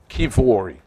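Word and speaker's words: Kiwior: it's Jacob Jacob kiwari is pronounced kivori there's W in Polish is a v love from Canada all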